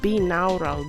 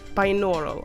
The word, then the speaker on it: binaural: Binaural, okay, you know. Binaural. Okay, close. Close, but no cigar.